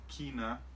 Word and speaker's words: China: Con ese país, como lo pronunciamos, es China, China, China. Por lo general es China. También se puede pronunciar como China. Las dos pronunciaciones son válidas, ambas son correctas. Se puede utilizar cualquiera de las dos. Entonces, China o China.